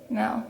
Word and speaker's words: Mel: Mel, yeah, that's how you say it. It's French.